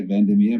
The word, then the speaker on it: Van der Merwe: To pronounce my surname correctly, I normally say Vandermeer, but it's my fellow South African will call me out on saying it correctly.